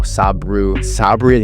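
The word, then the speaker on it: Sabri Suby: I'm going to show you exactly how Sabu Sabri, that's how you say his name, used a funnel to actually print billions of dollars.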